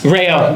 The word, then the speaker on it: Reo: Or Reo. Rayo, yeah, because you have to say Rayo.